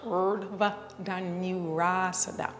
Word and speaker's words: Urdhva Dhanurasana: It's pronounced Urdhva Danurasana.